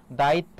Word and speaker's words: দায়িত্ব: সেই বর্ণটি দত্ত হবে কার সঙ্গে আছে দেখ ত এর সঙ্গে তাহলে ত কয়বার হবে দুইবার উচ্চারণটা কি হবে তাহলে দেখো দায়িত যেখানে থামে এবং কোন কার থাকে না সেখানে হসন আর বাকি হবে কি ত দায়িত্ব এটা হচ্ছে তোমার উচ্চারণ আর এখানে বলেছে জাতিকে